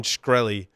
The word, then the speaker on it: Shkreli: the firewall guy so how do you pronounce this jackass his last name is it shkreli script shkreli script they called farmer boy that's way easier to pronounce but it's Martin shkreli aka farmer boy is